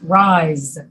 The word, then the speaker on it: rise: words rice rice yes rise rice and rise race and rise are you able to say them rice and rise rise rice rise yes just remember these words that have the z sound yet you do the